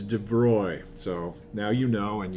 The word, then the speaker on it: de Broglie: kim students and they're like yeah it's the de broglie something or other and actually i guess in french it's de bruy so now you know and you can and